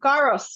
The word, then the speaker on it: gyros: Definitely gyros.